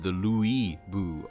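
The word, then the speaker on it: Lü Bu: So, Bean is talking about, for people watching, Lubu has always kind of been pronounced Lubu, as far as I know. And this one, they've definitely strained the Louis Boo in it. So it sounds like they're saying Louis Boo, like that.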